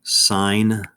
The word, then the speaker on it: sine: three letter abbreviations but we still pronounce them as if they were spelled this way sine cosine tangent when you're reading an